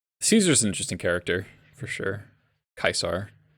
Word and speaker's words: Caesar: interesting character for sure kaisar do appreciate it like as a classics person i do appreciate that they used proper pronunciation oh god it's real